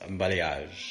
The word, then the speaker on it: balayage: Pronounced balayage, balayage.